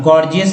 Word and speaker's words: gorgeous: अब गॉर्जियस देखिए GORGEOUS, तो देखिए पहला जी ग, दूसरा जी ग, गॉर्जियस, गॉर्जियस।